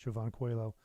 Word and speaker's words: Jovan Coelho: I'm in the middle of working on a record for a local saxophonist named Jovan Coelho actually, is how it's pronounced, Jovan Coelho.